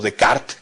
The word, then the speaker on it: Descartes: un gran pensador francés René Descartes o decart como es la pronunciación correcta en francés eh No solo se